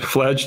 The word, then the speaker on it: Fladge: it's pronounced Fladge. Vlad, right? Fladge TV.